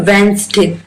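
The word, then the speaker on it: Wednesday: इसको पढ़ते हैं अपन वेनसडे थोड़े ध्यान से पढ़ना ताकि हम जो साइलेंट वर्ड है वो निकाल सके वेंस डे में डी साइलेंट है यहां पर देखिए आवर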